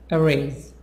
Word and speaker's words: erase: a promotion a promotion erase erase is a Z a promotion arrays 11